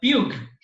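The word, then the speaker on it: Pugh: It's called a Puig matrix, not a Pug matrix as maybe some of you would pronounce it.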